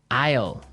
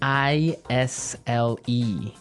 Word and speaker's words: isle: now isle is a i s l e Isle Isle it's a tricky word it sounds like the contraction of I will yeah but it's spelled so strangely right we don't pronounce the S the S is silent